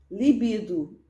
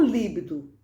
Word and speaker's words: libido: Libido, não líbido.